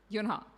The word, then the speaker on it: Yunha: Did I say her name right? Yunha, yeah.